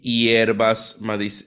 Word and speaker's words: hierba: frutas frescas, verduras y hierbas medicinales. Right? Hierbas medicinales. Ear. H is silent, hierba.